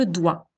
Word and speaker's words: dois: Le OI, il est un peu difficile comme son, mais certains d'entre vous le connaissent. Je dois, je dois, d'accord? Il se prononce wa.